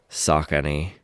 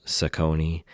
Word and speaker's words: Saucony: box here, they say Saucony. They spell out sock, A, and knee, because that's how you pronounce it. I think a lot of people in the past had called them Saucony and Saucony, so this is one